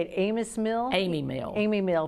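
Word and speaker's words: Amis Mill: do you say it amos mill amy mill amy mill p i always and i know it's got s on it but it's pronounced amy mill eatery in rogersville that's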